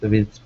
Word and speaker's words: with: And just be careful about your W as well.